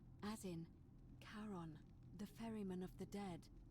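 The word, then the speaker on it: Charon: it's just as you described it only your pronunciation is a little off the name you heard wasn't Karen it was c h a r o n as in karon the Fairman of the Dead Kon who in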